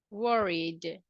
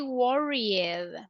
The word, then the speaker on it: worried: Warrior word Warrior Warrior worried what do you think Gloria and the last one yes everybody do you agree yes or no yes yes so look we don't say Warriors we say worried worried one more adjective